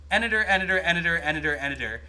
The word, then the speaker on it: Editor: I mean, I guess it makes sense because it's a bell, but you say it's the same cadence as Editor, so Editor, got it. Editor. It rhymes with Senator.